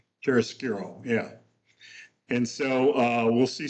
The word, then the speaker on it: chiaroscuro: You know, it's called, how do you pronounce it? Nick Chiaroscuro, right? Chiaroscuro, yeah.